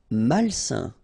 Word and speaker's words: malsain: Malsain. A-I-N together, it's a nasal and it's un.